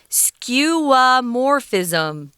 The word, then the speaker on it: skeuomorphism: pronounce this word skeuomorphis skewamorphism so the zhongine is on the morph skeuomorphism okay here we